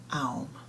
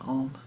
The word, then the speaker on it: Om: And the Swami sits back and says, Aum. Do not be concerned. It is pronounced Om, but do not be concerned about any errors in pronunciation you might make.